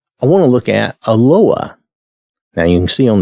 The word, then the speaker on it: Eloah: want to look at aloha now you can see on the screen it's spelled e-l-o-a-h it's Aloha that's the best pronunciation I'm going to do